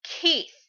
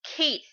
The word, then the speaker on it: Keith: priest monk guy named Keith yeah in the first chapter he appeared his name was kissu but it was a apparently pronounced Keith so Lucy and Wendy